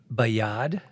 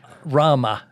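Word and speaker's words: בְּיָד רָמָה: so I can you tell us how to pronounce it yeah yeah uh with the B it's bayad is the first part Rama R yeah and that would be the lifted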